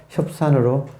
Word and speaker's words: 협산: 그것처럼 여기도 갑산이라고 쓰고 실제 발음은 협산으로 이렇게 합니다. 이게 불교식 그 인명을 할 때 이렇게 해요.